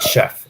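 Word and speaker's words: Sheff: Boy by uh David chef and Chef is spelled s h FF um so this one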